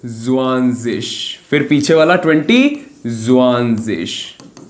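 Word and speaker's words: zwanzig: तो सबसे पहले वन को लिखा आइन उंड जुआंजिश।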